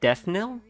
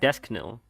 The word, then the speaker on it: Deathknell: Is that how you say it, Deathnell? I've always just pronounced it Deathknell. Well, get lost then. It's really no business. It's a silent K, I guess. Alright, like knife.